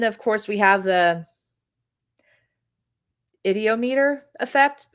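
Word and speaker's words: ideomotor: It's just a board, and then of course we have the idiometer effect. I always say idometer, and it's not idometer; it's the idiometer effect.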